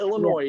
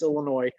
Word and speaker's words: Illinois: oh, Des Moines, just like Illinois. It's not Illinois, it's Illinois.